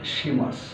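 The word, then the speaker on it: します: আমরা এখানে লিখি লিখবো কি মা কিমা কিন্তু উচ্চারণটা হবে কিমাস তো কিমাস মানেও আসা আর শুরুর শুরুর মাঝখান হচ্ছে শিমাস শিস শি মা সিস তো এটা হচ্ছে মাস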